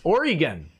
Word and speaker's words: Oregon: Also, Oregon is pronounced Oregon.